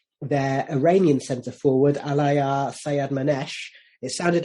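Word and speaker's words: Sayyadmanesh: So, but I can't pronounce his name, so I'll let you say it again if you want to. Yeah, Sayed-Manesh.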